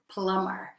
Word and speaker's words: plumber: So we don't pronounce the B. It's actually written plumber, but we pronounce it plumber.